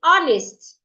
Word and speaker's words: honest: Say honest. The H in honest should not be heard as well. The H is silent.